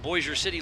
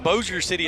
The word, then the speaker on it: Bossier City: from your neck of the woods out of boise city louisiana who's your city it's actually pronounced bozier city and that's right that's where i live is